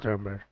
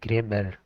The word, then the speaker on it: grammar: इस्तेमालु कजे, that's called ग्रामर। ग्रामर असल में इनखे चइबो आहे ग्रेमर। असां कॉमनली इनखे ईअं सॾींदा आहियूं ग्रामर। ग्रामर न आहे, ग्रेमर। जेको हिन जो प्रोनाउंसिएशन थींदो उहो ग्रेमर।